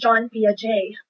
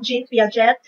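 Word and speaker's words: Jean Piaget: about this theorist and then his name is pronounced as john pia j not genes via jet not jinping g but john even though it's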